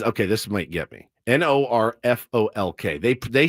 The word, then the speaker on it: Norfolk: How do you pronounce Norf? It's Nor. Now, this is Okay, this might get me. N O R F O L K.